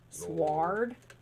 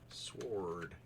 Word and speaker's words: sword: Like, okay, I know there's a W in sword, but nobody pronounces the W in sword because that's just weird.